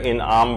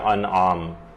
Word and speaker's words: انعام: وہ یہ ہے کہ لوگ اسے سورہ انعام پڑھتے ہیں، جبکہ یہ ہے سورہ انعام، یہ زیر کے ساتھ نہیں ہے بلکہ یہ زبر کے ساتھ ہے، تو اس کا صحیح تلفظ ہوگا سورہ انعام۔ اس کی جو کل